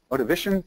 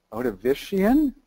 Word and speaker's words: Ordovician: And if you follow the clock back here, the Glomus starts radiating in the, how do you pronounce it, Ordovician period, right? Ordovician?